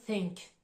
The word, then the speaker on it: think: là vous pouvez distinguer le premier mot en th the c'est une prononciation qui va mobiliser les cordes vocales tandis que le mot think c'est un TH un peu plus doux où là on va pas chercher dans la gorge à prononcer de façon plus accentuée en fait alors essaie